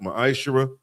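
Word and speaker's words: ma'aser: Means tenth in the Hebrew is pronounced ma'ashera.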